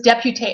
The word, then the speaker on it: député: So the only thing I do know in that split second was if there's not an accent on the E, you do not pronounce it.